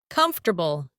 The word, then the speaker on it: comfortable: This word is pronounced as comfortable.